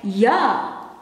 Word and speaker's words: ja: In Dutch you write it this way, but you pronounce it as ya.